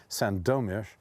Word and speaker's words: Sandomierz: And, you know, hardly any of my Polish friends have even been to Sandomierz or Sandomierz, because the accent in Polish is on the second syllable, Sandomierz, or, needless to say, to the Pepper Mountains.